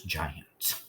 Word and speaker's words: giant: Now, that A is not actually short. It's weak and schwa. We hardly hear it. So this is giant, okay, with a soft G.